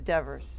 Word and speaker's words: Devers: You know, I've been pronouncing your last name wrong all this time. It's not Everybody Devers. does. It's Devers.